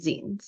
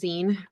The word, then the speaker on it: zine: are using Alba D to showcase showcase student z. Yeah. So first of all I want to discuss what Azen is. Um and it is pronounced Zen as in magazine not Z.